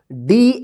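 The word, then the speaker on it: day: ना ए आई या ए वाई का ए उच्चारण आप कीजिएगा जैसे यहां प पढ़ा गया ठीक है इसको आप ध्यान रखिएगा जैसे डी ए वाई डे ठीक है चलिए यहां पर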